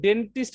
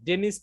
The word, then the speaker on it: dentist: এখানে কিন্তু ডেন্টিস্ট বলে না, ডেনিস্ট বলে, খেয়াল করেন তো আপনারা। How often do you need to go to the dentist? তার মানে Dentist বলে। এখানে কিন্তু টির উচ্চারণটা করে না, ঠিক আছে।